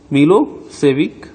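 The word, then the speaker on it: Milošević: A narrow minded SERB nationalist मिलोसेविक, pronounced मिलोसेविक, ठीक है, head won the election.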